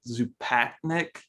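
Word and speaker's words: Zupančič: You just said it like 10 minutes ago, but Zupatnik, is that how it is? Zupanchik.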